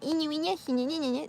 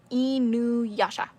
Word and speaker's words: Inuyasha: It's not Inuyasha. No. Inuyasha.